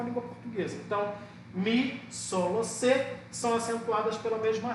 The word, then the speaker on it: solo: Aqui é a mesma coisa. Solo. Você não fala soló. Solo.